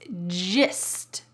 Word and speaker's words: gist: The fourth real-life English expression is gist. Gist. Notice that this is not pronounced gist, g. Instead, it's pronounced gist, gist.